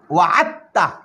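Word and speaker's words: وَعَدْتَّ: نو ګورئ دا موږ سره ویلی کېږي داسې وعدته، وعدته ویل کېږي داسې، خو لیکلی کېږي به داسې وعد او دا تا به مشدد شي وعدته. خو دا دال به نه ویل کېږي، په تلفظ کې به دا دال نه ویل کېږي.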